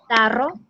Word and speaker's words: tarro: Okay, so Ling, could you please pronounce roca and tarro? Roca and tarro. With Roca and Caro. Tarro. Tarro. It's not like in English. It's not like r in English, but it should be pronounced very clearly, like r.